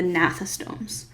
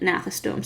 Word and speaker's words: gnathostomes: is going to be the gnathostomes um so the g is silent nathan stone so from here down